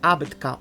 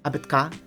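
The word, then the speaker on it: абетка: it a betka abetka it's not about abbotka or abetka it's abetka okay alphabet the second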